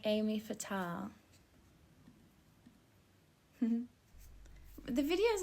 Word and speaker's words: Aimée Fatale: You pronounce my name like Amy Fatal.